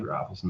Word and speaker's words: Rafelson: No, it's actually Rafelson. I actually like Rafelson better. And like in Europe, like some people say Rafelson, but I'm so used